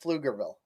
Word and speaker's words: Pflugerville: That silent P, but it gets a little dicey, but you I did know it. the silent P followed by an F.